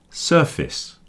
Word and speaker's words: surface: So surface, surface, it's like fis at the end.